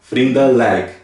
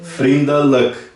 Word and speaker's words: vriendelijk: Vriendelijk. Vriendelijk. Tá vendo? Vriendelijk. Então você pode ver que a pronúncia é escrito com IJ, mas tem o som de E.